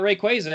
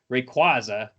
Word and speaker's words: Rayquaza: it's it's been established i was wrong about rayquaza because it's rayquaza anyway they'll be